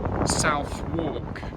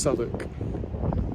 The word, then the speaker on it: Southwark: heard it referred you might think it says south walk but in fact um it's pronounced sonic just uh as uh there is no lysist